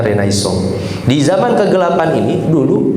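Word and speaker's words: Renaissance: atau orang-orang sering mengatakan reinan and sence katanya dibacanya renaisong.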